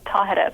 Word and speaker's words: Tahereh: them how to say my name which is tahereh by the way i i love the the